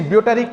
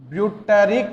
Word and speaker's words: butyric: Acid present in stale cheese is butyric acid. Butyric acid. B-U-T-Y-R-I-C. Butyric acid. B-U-T-Y-R-I-C. Butyric acid. Once listen pronunciation.